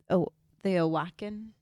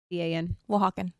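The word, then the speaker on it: Oaxaca: Um, I'm going to mispronounce this. Awaken Aakan in Mexico. O ax. Wakan.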